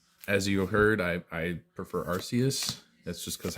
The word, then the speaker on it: Arceus: As you heard, I prefer Arceus.